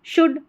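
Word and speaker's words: should: जैसे कि यहाँ पर देखें, ये है स्पेलिंग कुड, शुड, वुड। यहाँ पर बीच में OU है इन तीनों स्पेलिंग में। अब इसको कुल्ड, वुल्ड, शुल्ड नहीं पढ़ेंगे, एल यहाँ पर साइलेंट है इन तीनों स्पेलिंग्स में।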